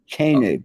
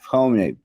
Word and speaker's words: Koenig: It's Koenig, not Koenig. Come on. Koenig.